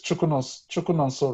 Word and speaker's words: Chikwunonso: is safe okay so the right pronunciation of your name is chukun chuno right yes CH or you could just call